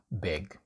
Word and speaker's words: big: English learners struggle with, the pronunciation of the I in English. Sometimes, well, most of the time, it's pronounced like as a short I or a sound like this. A. In this example, it's big, big, not big, it's big.